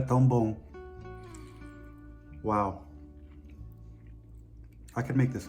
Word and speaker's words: Tão bom: Tão bom. How? Tão bom. Tão bom. Yep. Tão bom. Obrigado. Obrigada. Okay, now it's my turn. Here we go. This is amazing. Isto é tão bom.